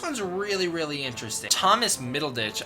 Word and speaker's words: Middleditch: really really interesting Thomas middleditch I don't know if that's how you pronounce his last name middle ditch it's weird yeah that's how you say it so Thomas middleditch is